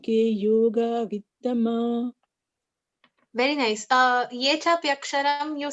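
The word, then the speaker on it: ये चाप्यक्षरम्: Ye chapaksharam. Is it ye chapaksharam? It is ye chapyaksharam.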